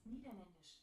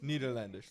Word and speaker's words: Niederländisch: In German, that's Niederländisch. Yeah, What? So, Niederländisch, like Niederländisch.